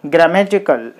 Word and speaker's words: grammatical: So you put the stress mark on the third syllable, prac, practical. Okay, in the same way, grammatical.